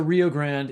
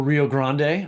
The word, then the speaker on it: Rio Grande: author of there is a Rio Grand in heaven or Rio Grande I suppose would be the right way to say that um which came out